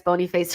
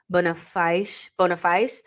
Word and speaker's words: Boniface: I think the pronunciation has to be more Kenyan. So Boniface. Listen, Boniface.